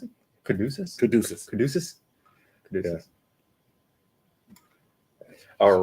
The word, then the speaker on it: Caduceus: So just so you know, how do you pronounce it? Caduceus.